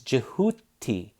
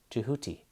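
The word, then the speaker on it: Djehuty: Now, generally you have an ibis here for Thoth, but this is actually the full name phonetically written out for Thoth. It's Jehuti. That's his phonetic name, Jehuti.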